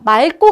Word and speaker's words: 맑고: 자, 맑고 같은 경우는 리을 기억 다음에 기억이 나왔네요. 그치? 리을 기억 다음에 기억. 그러니까 이때는 앞자음으로 가서 리을, 맑고라고 발음하시면 된다고요.